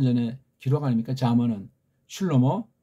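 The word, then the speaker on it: שלמה: 잠언은 슐로모 다윗 아들이 썼다고 하는 거. 한글 발음으로 솔로몬.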